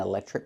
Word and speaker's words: electric: Do you have an electric car? Very good. We see the pronunciation, electric. The TR makes the ch sound like in chicken, plus the R, trick. Electric.